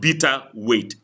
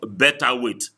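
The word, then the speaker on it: beta weight: just a little thing it's called bitter weight not better weight alab I want you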